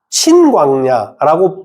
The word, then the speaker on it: 친광야: 앞에 있는 거는 신 단어라고 그니까 신이라 신광야라고 발음하는게 맞고요. 뒤쪽에 있는 것은 오히려 친 친광야라고 발음하는게 오히려 더 많습니다.